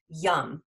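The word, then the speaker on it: yam: And then the bija mantra, the sound of this is yum. So it's spelled Y-A-M, but you pronounce it yum, like yummy.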